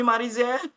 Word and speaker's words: Marizel: Yes, Marizel.